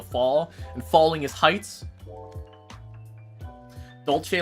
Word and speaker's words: Dolce: Dolce. Dolce. Dolce. Dolce. like Dolce and Gabbana, the Italian uh luxury blend brand brand.